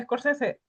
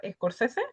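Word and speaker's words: Scorsese: También se pueden encontrar escorcese. Escorese se escribe s corsese, es, o sea, es corsese, pero sin la al principio, ¿vale?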